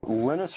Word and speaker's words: Linus: Linus or Linus? What's your preferred pronunciation?